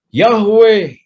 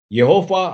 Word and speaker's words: YHWH: kecil berarti adona ya dikatakan juga yahwe GH ada juga yang menyebut bahwa ini membacanya dengan yova ada yang menyebutnya dengan yehu terserahmu menyebut apa Tuhan adalah panji-panji woah ini